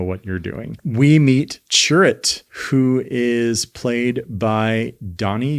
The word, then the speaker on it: Chirrut: it and I was like, are they saying churro? Chirrut anyway.